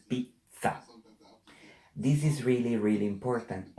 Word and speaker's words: pizza: You must, not you have, you must pronounce the double. Because we read what we see. So this word, it's not bella, it's bella. This is not mama, it's mamma. And this is not pizza, it's pizza.